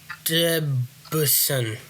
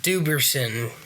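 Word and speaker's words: Dubenion: Cornelius Bennett, Jet Kemp, Cookie Gilchrist, Albert Debusson, something like that. Jack Kemp. Incorrect. It's Albert Duberson.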